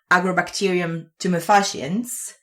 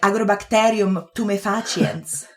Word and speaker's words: Agrobacterium tumefaciens: Because in Italian it's like Agrobacterium tumefaciens. Which is probably more correct because it comes from Latin, but yeah, that's a very good point.